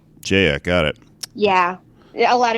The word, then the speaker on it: Jaya: guest name - I assume - did I pronounce that right it's actually Jaya Jaya got it yeah a lot of people get